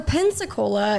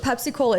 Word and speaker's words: Pensacola: So Pensacola is is what it's called, but Pepsi Cola is way more fun.